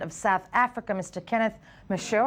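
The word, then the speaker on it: Meshoe: south africa mr kenneth michelle i hope i'm pronouncing your name right yes you did well thank you lovely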